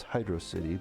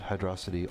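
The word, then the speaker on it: Hydrocity: As a kid, this to me has always been known as Hydro City, but I have since agreed that Hydroity also rolls off the tongue pretty well.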